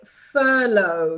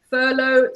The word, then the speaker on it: furlough: We say furlough. So this is how you pronounce this word. As you can see, furlough, silent GH, and the long O.